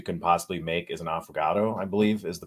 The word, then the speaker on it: affogato: I will say one of the most underrated desserts you can possibly make is an affogato, I believe is the pronunciation.